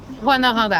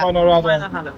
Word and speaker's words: Rouyn-Noranda: What's the actual pronunciation of the city Rouyn-Noranda. of Val-d'Or? Rouyn-Noranda. Rouyn-Noranda.